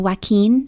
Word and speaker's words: Joaquin: no it's pronounced uh Joaquin Phoenix yes it's like it's a Spanish name or something right yeah like a